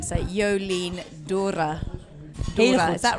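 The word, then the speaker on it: D'Hoore: I spoke to Jolien D'Or, and it's I have been corrected on my pronunciation. So Jolien D'Or.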